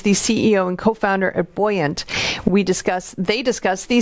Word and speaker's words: Buoyant: is the ceo of it's buoyant right it's how you pronounce it yeah yeah and